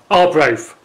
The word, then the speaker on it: Arbroath: Probably at that last station I'll probably have to work my pronunciation on that one. Arbroath.